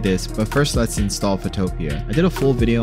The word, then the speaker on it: Photopea: So I was calling it like PhotoPea or PhotoPea. It's actually PhotoPea, which is like kind of like PhotoPea. Makes sense.